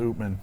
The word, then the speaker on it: Upmann: a chaplain or is Josh says it is pronounced open open open open open do you know the